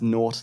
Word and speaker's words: Gnort: Gnort is in it. So that's really good? Yeah, it's good. It's good fun. Gnort. Yeah, there you go. Gnort. It's pronounced Nort, though, apparently.